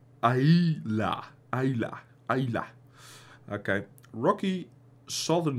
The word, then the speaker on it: Islay: Today, the four onion-shaped stills at Lagavulin are neatly tucked into a whitewashed jumble of buildings by the sea on Islas, pronounced Aila.